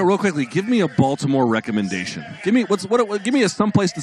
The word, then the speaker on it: Baltimore: It's pronounced Baltimore, okay? Please get it right.